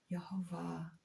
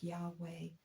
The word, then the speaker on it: Yahweh: Some pronounce Yhovah or Yahweh. Some say it's unpronouncable. The name that God gave to Moses in the wilderness. I am that I am Yave. Yahweh.